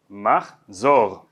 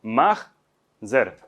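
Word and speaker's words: מחזור: Aquí está la pronunciación sefardí, que como ven es aguda, ¿no? Machzor, machzor. El yiddish tiende a hacer, el hebreo ashkenazi tiende a usar palabras llanas. Entonces ya no es machzor, sino machzer.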